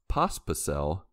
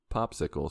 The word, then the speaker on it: Pospisil: Did you just say his name right? Yeah. Yeah. Oh, my goodness. Sorry. Edit that out. Let me say it wrong like I usually do. Traffic Popsicle said.